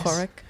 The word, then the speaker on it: Poruk: Did you notice how I pronounce that? Yeah. nice. Poruk.